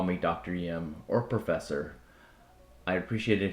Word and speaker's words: Ngim: And that name, they interpreted it as spelled as Ngim, and it's pronounced Yim. Most people at the college, students, call me Dr. Yim or Professor.